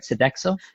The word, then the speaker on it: Sodexo: to satisfy those two as well as your Sodexo Sodexo contract am I saying it right Sodexo yes attack so yes yes it's a little